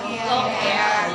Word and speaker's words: lochia: Ya, walaupun tulisannya lochia, dibacanya adalah lokea.